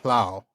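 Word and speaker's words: Amon Lhaw: roaming on Amon Hlao.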